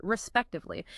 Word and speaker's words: respectively: say it respectively. So, you notice how the emphasis is on the second syllable spec.